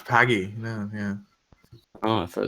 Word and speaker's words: Pagey: send you the link I always thought it was pay my bad no it's paggy no yeah Oh I